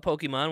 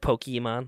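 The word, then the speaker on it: Pokémon: Like Pokemon, like with the E, emphasis on the E.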